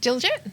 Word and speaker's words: Diljit: How did you pronounce the first one? Diljit.